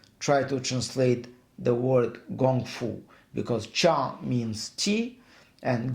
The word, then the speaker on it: Gong Fu: to translate the word Gong Fu, because Cha means tea, and Gong Fu can also be pronounced as Kung Fu.